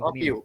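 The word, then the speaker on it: μ: sama dengan, itu bacanya U ya Pak? Mana? Yang for P1 sama dengan B sama dengan U0 bagi 4 Mu, ya? mu, Oh, mu, Mu. mu. Mu. Nah, mu. Ah, Mu. MYU lah, nah Oh, kita mu ya, ya, Pak.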